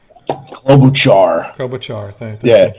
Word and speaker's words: Klobuchar: Klobuchar. Thanks for correcting me. I always get her name wrong.